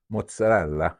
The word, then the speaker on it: mozzarella: lot how do you say the word mozzarella mozzarella there it is my nephew married into the